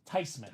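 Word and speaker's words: Theismann: mad I was not mad because it's actually pronounced tysman ty not tysan not these men we've been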